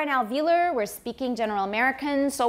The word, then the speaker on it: alveolar: watch the r in alveolar we're speaking general american so we have very clear r's remember your r's please okay alveolar ridge and it's not elvillar was a ve once more alveolar ridge there we go